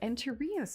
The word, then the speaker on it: Enterrios: But Enterrios is how it's pronounced.